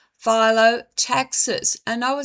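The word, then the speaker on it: phyllotaxis: This is called phot taxis. And I will spell it for you. P H Y L O T A X I S. Photaxes.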